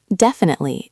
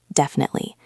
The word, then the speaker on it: definitely: Definitely. Try to keep the stress on the first syllable.